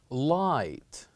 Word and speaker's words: light: which is light and when you listen to this word or when you pronounce this word you would know that here we only pronounced three letters l i and T light and we kept G and H we kept them silent we don't say them we don't pronounce them we keep them silent night or light now